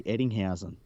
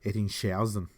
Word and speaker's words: Eddinghausen: I say Eddinghausen. I remember once hearing an English commentator try and pronounce it, and I think he called him Eddingshausen. Eddingshausen. That's pretty funny. It made it sound very German.